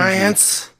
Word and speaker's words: Science: Science. It actually says on the back, it's pronounced Science. It's spelled Xyience.